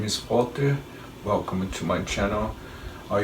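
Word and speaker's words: Valter: My name is Walter with the V, V-A-L-T-E-R. Yeah, in Portuguese, in German, they spell with the V, but nowadays they do with the W and you still pronounce them Walter in Portuguese.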